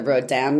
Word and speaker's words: Rodin: versus the pronunciation because I live really close to the Rodan Museum which is I guess spelled Rodin which I hadn't ever thought of because I think